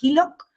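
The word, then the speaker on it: HELOC: acceder a una línea crediticia que se llama hilock que se escribe h e l o alguna otra pregunta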